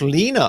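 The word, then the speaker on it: Leana: to be the medical no it's pronounced lina according to her bio okay okay so so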